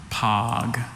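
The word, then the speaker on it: poge: Is there any alternate pronunciations? I have just the one, pog.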